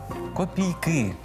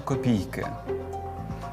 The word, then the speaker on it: копійки: тепер про копійки запам'ятайте копійки у множині мають наголос на останньому складі копійки а не копійки тому правильно сказати Не